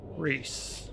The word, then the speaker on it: Rhys: now but hey uh i'll say rice rise rise maybe i don't know how to say your name how do you pronounce that how's it going though yeah i've i've played it before but not for a long time so we're replaying it again got it rhys let's buff the party